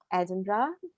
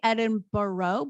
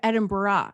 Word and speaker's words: Edinburgh: weird american accent because americans who don't who are smart enough not to say edinburgh still say edinboro but there's like an extra syllable in there and with her irish accent she was saying like edinburgh like edinburgh and i was like